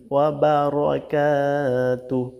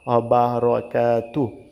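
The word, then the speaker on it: وبركاته: ওয়া বারাকাতু না, কিন্তু এখানে রয় আকার ধরা যাবে না, অবারাকাতু।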